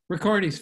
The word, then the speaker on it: Ricciardi: this is um Richard Riccardi cuz I'm sound how do you say your last name record he's fine because you couldn't you can say it that way that's fine thing okay okay he's a